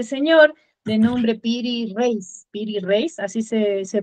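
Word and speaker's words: Piri Reis: mapa de este señor de nombre piri reace piri reace así se se pronuncia y que es un mapa extrañísimo porque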